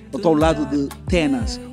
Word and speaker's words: Tennaz: Olha, eu sempre tive dificuldade em pronunciar o teu nome, é mesmo Tenas.